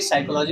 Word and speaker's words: psychology: ऐसे ही साइकोलॉजी में पी तो साइलेंट है, तो साइको, PSYCH याद रखना, सी नहीं होता अकेले, CH होता है।